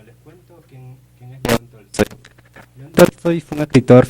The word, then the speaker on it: Tolstói: El día de hoy vamos a hablar sobre Tolstoy. Si no me equivoco, se pronuncia así, ¿verdad? Exacto, León Tolstoy.